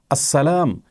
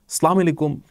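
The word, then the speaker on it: السلام: অতএব আসসালাম এভাবে বললে আল্লাহ তাআলা খুশি হবেন। সালামু আলাইকুম বা এভাবে বিকৃতভাবে যদি বলা হয় সন্দেহাতিতভাবে সেটি আল্লাহর অসন্তুষ্টির কারণ হবে।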